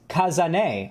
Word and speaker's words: Kazan: of the segment so kazan thank you for the five dollars as my name is pronounced kazane oh cousin a hello